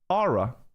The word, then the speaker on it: aura: So you don't pronounce the U. That's what it is. You just say ah. You don't say ah-oo. One more time. Aura.